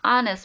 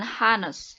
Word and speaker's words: honest: Di sini juga sama, walaupun diawali dengan huruf H, ya, tetapi dibacanya honest, bukan honest.